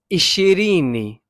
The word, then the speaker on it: ishirini: Until you get to 20, which is ishirini. Am I pronouncing that correctly?